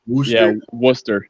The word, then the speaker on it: Worcester: You know, that's one thing I forgot to grab the the screenshot, but the uh Woo Socks, the Worster, is that how you pronounce? Worcester.